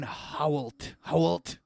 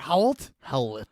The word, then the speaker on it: Howlett: And then James Logan Howlett. How do you say that? Howlett? Howlett.